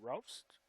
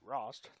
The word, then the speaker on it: Rost: And cleared out by number 31, Tarian Roast. Excuse me, Rost. That's how you pronounce her name.